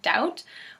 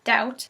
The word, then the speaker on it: doubt: make sense such as the bees in debt and doubt were put in during the 17th century after the words already existed during an English passion